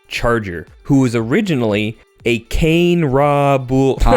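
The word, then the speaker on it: Kane-Ra: I've heard a couple of different pronunciations. I' I've heard Kane Raw. Um, I'm personally partial to Kane Ra. I think that sounds fun.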